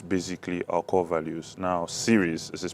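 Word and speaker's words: Syrys: Stand Out is basically our core values now Series this is pronounced basically s y r y s uh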